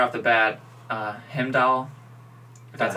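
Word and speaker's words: Heimdall: to yeah yeah regardless right off the bat him doll that's how you pronounce his name going stab and he got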